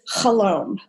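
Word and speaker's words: חלום: So the first thing I'll just say is that the word in Hebrew for dream is chalom, rhymes with shalom.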